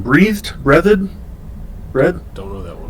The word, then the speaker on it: Breathed: Breathed. Don't know that one. It's spelled like breathed.